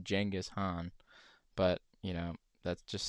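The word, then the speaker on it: Genghis Khan: podcast about Genghaskhan, which apparently it's pronounced Jenghis Han, but you know, that just seems silly at this point.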